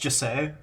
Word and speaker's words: Jesse: It's pronounced Jesse.